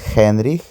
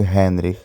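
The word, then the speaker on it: Heinrich: Наприклад, Хенріх перекладується як Генріх, Хелена як Гелена, але в оригінальній німецькій це все звучить з літерою Х.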